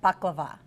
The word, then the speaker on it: baklava: We are making baklava.